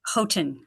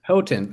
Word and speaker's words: Houghton: Yeah, how do you pronounce the school? I'm sorry. It's Houghton. Houghton, I had it wrong.